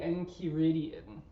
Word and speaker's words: Enchiridion: In particular, I asked you to read Epictetus's Handbook, which I will try to pronounce the Greek original, the Enchiridion, I believe is how you pronounce it.